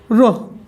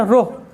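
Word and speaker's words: rho: हाँ, रो। क्या प्रोनाउंसिएट कहते हैं? रो।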